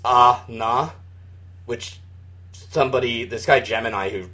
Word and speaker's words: Anna: And it's spelled that way in the promotional materials, but the kana for it is ah-na, which...